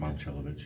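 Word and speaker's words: Momčilović: Yeah, do you pronounce correct? Momcilovic, yeah.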